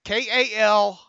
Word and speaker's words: Calan: He says, "Hello, my name is pronounced like Callan, Kal-LAN.